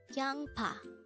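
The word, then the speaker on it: 양파: Yangpa. Yangpa. This is pronounced as a two-syllable word. The first syllable is yang, and the second syllable is pa.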